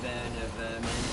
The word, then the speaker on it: Werner Werman: His name is, because it's German, it would be actually pronounced Werner Werman.